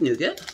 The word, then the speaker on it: nougat: like it it's a nougat or nougat new girl oh i almost said a bad word it's one of those words depending on where you are how you say it changes so here it is